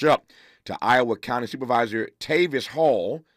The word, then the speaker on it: Tavis: we will catch up to Iowa County Supervisor Tavis Hall spelled t AV i s only person I know like that Tavis is how you pronounces it uh tavus Hall will join us